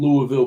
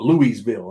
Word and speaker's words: Louisville: I don't even know how to say it right, but people used to correct me when I was in Lexington because I used to call it Louisville. And they say, man, it's Louisville.